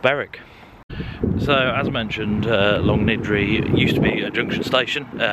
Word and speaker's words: Longniddry: and I have been I've been calling it long ready I apologize it's long nidri um or something similar